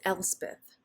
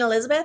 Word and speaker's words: Elspeth: it and I'm like it's elspeth they're like you mean Elizabeth I was like it's my middle name no no it's not Elizabeth elsewhere e-l-s-p-e-t-h it's the